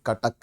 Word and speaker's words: कटक: नहीं है ध्यान रखिएगा नॉन ओरियन वाले उसको सटक सटक के हिसाब से प्रोनाउंस करते हैं दिस इज नॉट सटक दिस इज कटक कटक क क का उच्चारण होगा ठीक है तो ट